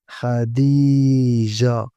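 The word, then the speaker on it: خديجة: Khadija, Abla, Khawla, Sara, Najat, Sarat. As you notice in these words, we did not pronounce the letter التاء because it was not preceded by an alif.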